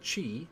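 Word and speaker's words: ち: the first exception is chi which starts with c instead of t it adds a soft h sound the second exception is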